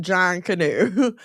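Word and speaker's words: Junkanoo: It's pronounced John Canoe, a major African a major Afro-Caribbean masquerade tradition that predates modern carnival.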